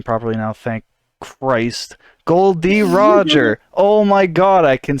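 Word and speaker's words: Gol D. Roger: of Legacy like the first few panels are gold Roger or sorry I can say his name properly now thank Christ Goldie Roger oh my God I can say it yeah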